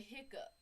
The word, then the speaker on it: hiccough: A hiccough or hiccup. We don't say that. We say hiccup.